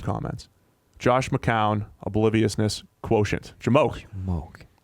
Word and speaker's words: JMOQ: Jamoke. That's how I pronounce it.